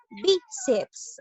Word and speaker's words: bíceps: Bíceps, a ver, analizamos, bíceps. ¿Dónde lleva la mayor fuerza de voz? En la sílaba bi.